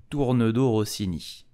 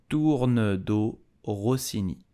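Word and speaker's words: tournedos Rossini: So how do you pronounce it in French correctly? You will say tourne d'eau rossini. Tourne d'eau rossini.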